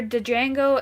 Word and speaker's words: Django: Uh grades for Django and Avengers. Django Django. It's just Jang. D silent, hillbilly. It's fine. It's fine. Uh no, that's actually a quote from the movie. The D is silent, cuz the guy in